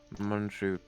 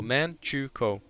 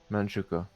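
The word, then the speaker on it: Manchukuo: border uh along uh Manju issue have you not learned to pronounce that I've said it like a billion times okay whatever um it's very simple man chuko manchuka yeah there you go um you saw it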